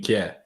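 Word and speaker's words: Kjær: I hope I didn't pronounce his name terribly as well. I think you might have done if you mean Kier.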